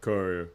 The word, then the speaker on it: Courier: So You pronounce it right, Courier.